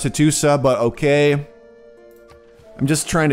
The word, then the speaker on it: Hattusa: Alright, let's go convert Hattusha. Which I still think should be pronounced Hattusa, but okay.